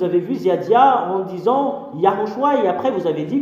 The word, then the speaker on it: Yahushua: Et le Père Yahva a donné une ordre que vous devriez prononcer le nom de Yahushua pour porter le salut.